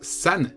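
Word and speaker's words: 三: Puisque le chiffre 4, on l'a vu, ça se prononce shi, le chiffre 3, ça se prononce san, et donc du coup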